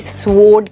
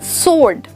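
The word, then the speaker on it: sword: मुझे पूरा भरोसा है कि मैक्सिमम लोग इसको अभी भी स्वॉर्ड कहते हैं, जबकि इसमें डब्ल्यू नहीं बोला जाता है, आप कहते हैं सोर्ड।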